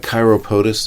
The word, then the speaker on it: chiropodist: Chiropodist is how that would be spelled. Oh, okay. They pronounce it chiropodist.